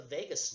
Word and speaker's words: vagus: can send signals along a nerve called the vagus nerve VA G us it's one of those